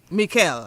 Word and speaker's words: Michele: they write it and it's pronounced in Italian it's pronounced Mel Mikel okay pronounce your name